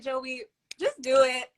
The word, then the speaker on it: Joie: say your name right it's just Joey listen to your application video and you said like a joke about this I had to give that emphasis okay well I was saying it right though it was just French I like to speak it like it was a little French you know congratulations and